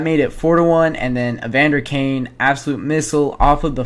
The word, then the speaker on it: Evander Kane: Draisaitl gets the primary assist on this one as he wins the face-off towards Evander Kane, that's how you pronounce his name.